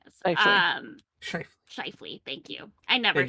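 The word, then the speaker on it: Scheifele: Mark Sheffley, whatever his last name is. Um, Schiffley.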